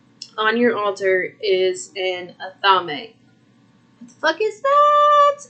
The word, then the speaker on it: athame: your altar is an athame what the is that it is spelled a-t-h-a-m-e it is an a a a thame everybody says it different i call it another